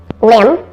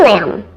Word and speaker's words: limb: about food here are two silent B words that are both spelled with I but do not rhyme Lim and climb don't climb on that broken tree limb did you hear the difference in the two eye pronunciations climb has a long